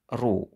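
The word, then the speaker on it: ρ: ya atau disimbolkan dengan ru ya Ini huruf Yunani bacanya ru ya Ini cara bacanya satuan dari massa jenis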